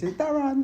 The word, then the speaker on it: Darran: My mum said the reason she spelled it like that is because that's how it's said. And I was like, it's not really. She said, it's Darran.